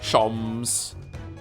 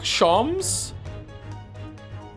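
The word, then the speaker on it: Sholmes: Shoms is pronounced the same as jams. Shoms. Herlock. Shoms.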